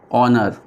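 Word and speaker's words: honour: जैसे कि एन ऑनर, ये जो ऑनर वर्ड है ये हमको ऐसा लगता है कि ओ से स्टार्ट हो रहा है लेकिन असल में इसकी स्पेलिंग एच से स्टार्ट होती है, लेकिन हमको यहाँ पे वॉवेल साउंड ही लेना है, इसीलिए हम इसमें क्या लेंगे, एन ऑनर लेंगे, ठीक है।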